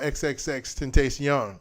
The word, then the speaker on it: XXXTentacion: music festival I really want to talk about XXX ten taste young yes I can say it right and for